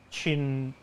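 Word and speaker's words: Qin: chronic jim campbell says best to pronounce it as the chin all right i'll look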